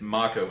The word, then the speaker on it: Mako: the planet I'm sorry they pronounce it I have they're pronouncing it make over years but it's ma Co energy my own energy